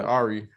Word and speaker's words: Ari: irie whatever how you say her name is arya oh yeah ari ari fletcher um basically she was on a